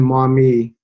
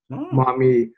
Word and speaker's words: Maumee: It's always been Maumee to me, Maumee.